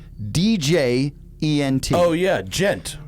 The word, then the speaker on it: djent: out that the genre that Meshuggah fits into is spelled DJENT. Oh yeah, Gent. Junt.